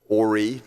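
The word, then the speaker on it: Horry: know what it means, let alone how to pronounce our name, Ori, silent H.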